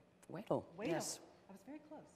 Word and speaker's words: Wedel: Wedel.